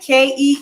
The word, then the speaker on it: quinoa: I was saying quinoa and Okinawa and everything else, but you pronounce quinoa, him of that quinoa there, with the K, like Keenwa.